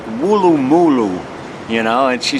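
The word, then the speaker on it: Woolloomooloo: come up with these crazy names called like wulu mulu you know and she said well she said we like to hear the Americans try to pronounce them so just for you Amber one more time wulu mulu anyway I didn't come here to talk about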